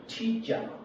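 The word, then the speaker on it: teacher: যে টি এস এ আর আমরা কি বলবো টিচার টিচার মানে আমরা জানি শিক্ষক আমরা জান সাধারণ জানি ব্রিটিশ ইংলিশে আর এর উচ্চারণটা সাধারণত বাদ যায় আমরা টিচার আমরা টিচার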